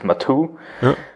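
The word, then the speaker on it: Matwo: understand it the name of the product is matu uh is that the proper pronunciation yeah exactly so in german we call it matu um so it's uh basically an abbreviation of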